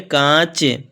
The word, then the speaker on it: कांच: कांच। ये जो कांच हम बोलेंगे तो ये नाक, माने नाक से उच्चारण होगा, ठीक है।